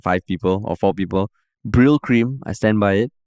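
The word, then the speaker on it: Brylcreem: quote one clarified that I have the right pronunciation it's Brill cream not brow cream ah okay okay yeah of course he also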